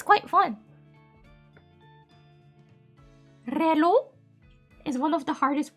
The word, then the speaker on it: reloj: Reloj. Reloj. Reloj. Reloj. Reloj. Reloj. Reloj. Reloj. Reloj. No, I don't need to roll my L there. Reloj.